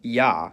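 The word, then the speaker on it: я: It's called yah and as its name suggests in most cases it sounds like yah. However, when it comes after a soft consonant which is a consonant pronounced with a tongue close to or touching the roof of the mouth the y is dropped and it's pronounced as a.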